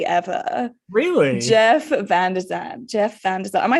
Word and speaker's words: Van de Zandt: say as well you actually have the most phonetically pleasing name to say ever really Jeff vzan Jeff VZ am I saying it right first